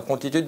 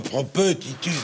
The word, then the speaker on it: promptitude: Tu comprends, la promptitude d'esprit? Sans prononcer le second T. P. On dit pas promptitude.